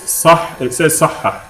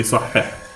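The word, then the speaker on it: صحِّح: Anyway, the first exercise it says sahha here, but it should say sahha. So if you have your book, then correct it in your book. There should be a kasra on the ha, not a fatha.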